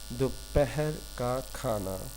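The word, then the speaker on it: دوپہر کا کھانا: If you remember good evening, good afternoon, so you can pronounce this one easily. Dopahar ka khana.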